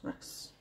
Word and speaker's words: wrasse: Then we've got the Humphead Wrasse, that's how it's pronounced, Wrasse.